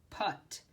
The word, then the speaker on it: put: into the holes excellent that word put that's a rule-breaker because it looks like we would say a putt but that's a different word putt this is the word put so you just have to remember what that looks like so that's the next